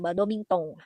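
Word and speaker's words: バドミントン: Badomintong ya cara bacanya badomington.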